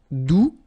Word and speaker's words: doux: All right, doux, you don't pronounce the final X, douce, feminine form, doucement, adverb.